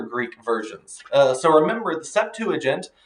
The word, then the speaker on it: Septuagint: the origin of the Septuagint, and other Greek versions. So remember, the Septuagint, which could be pronounced either Septuagint, like 4 syllables, or Septuagint, but I say Septuagint.